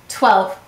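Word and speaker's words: twelve: Why do we have a silent E in 12? That's right, English words do not end in V or U, therefore add an E. Let's read it. T-w-e-l-v. 12.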